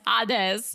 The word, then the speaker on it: Hades: Hades that's on you it's not that it's hadz all right well okay